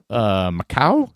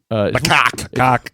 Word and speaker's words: macaque: So this is a story out of Japan, and it's a little macaw. Is that how you say it? No, Macaque.